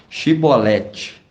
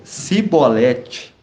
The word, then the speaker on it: Shibolete: Se dizia não, lhe respondia: então diz Shibolete. E ele dizia Sibolete, porque não conseguia pronunciar de outro modo.